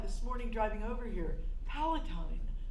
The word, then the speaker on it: Palatine: I thought this morning driving over here, Palatine. I really like that name. Oh, it rhymes with Palestine, where my father's from.